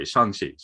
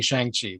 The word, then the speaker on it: Shang-Chi: i mean let's get out of the way shanxi is how it said for the last four years i've been saying shang chi though most people have so have you always said shanxi like even before this whole movie thing or